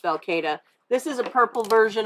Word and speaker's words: falcata: to say especially since we've been saying falcotta for the longest time it is technically pronounced falcata this is a purple